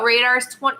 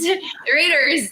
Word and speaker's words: Raiders: They lost to the Radars Radars. Why' I say it like that? Radars Radars. The Raiders.